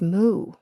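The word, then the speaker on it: moue: So I had author who loved using the French expression for pout, which is m o u e, but it's pronounced moo.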